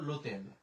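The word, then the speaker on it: l'hôtel: আমার যদি কোনো শব্দে আশ থাকে, আশের উচ্চারণটা নীরব থাকে, মানে আশের আমরা উচ্চারণ করি না, তাহলে আমরা হোটেল বলবো না, আমরা চিন্তা করবো যে এই জিনিসটা আমাদের জন্য নাই।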